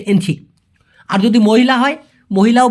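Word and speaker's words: Encik: অনেকে এনসি বলে অনেকে ইঞ্চি বলে। সঠিক উচ্চারণ হচ্ছে এনসি।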